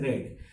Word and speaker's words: read: read sweating remain same but the pronunciation is red I have read this